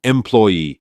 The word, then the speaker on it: employee: Employee. The stress is not always at the very end.